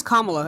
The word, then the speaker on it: Kamala: No, you're gonna say Kamala.